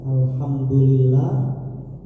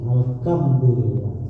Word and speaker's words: alhamdulillah: Maka nanti sampai anak-anak sampai remaja dewasa akan salah kayak sebagian alhamdulillah bacanya alhamdu alkamdu alkamdulillah bukan kaf bukan ha.